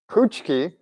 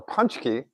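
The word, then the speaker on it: pączki: Immigrants from Poland pronounce them puchki or punchki or even ponchket. Ponchket. All are correct.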